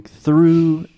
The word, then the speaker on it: through: I threw the ball exact same pronunciation through through okay that's